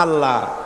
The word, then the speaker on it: আল্লাহ: না কেউ বলে না আল্লাহ আল্লাহ পাকের উচ্চারণটা হচ্ছে আল্লাহ পাকের নামের উচ্চারণ হচ্ছে আল্লাহ মুখটা একটু গোল হয়ে যাবে বলেন আল্লাহ আল্লাহ সুবহানাল্লাহ